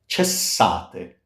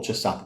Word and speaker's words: cessate: Cessate. Cessate. S. And it's not cessate.